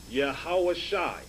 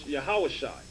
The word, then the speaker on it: Yahawashi: 7 verse 45 okay you have the yah ha sha and the i sound here pronounce yahawashai that's in acts 7